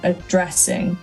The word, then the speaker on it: addressing: And then your stress on this one wants to be addressing. So it wants to be on the dress part.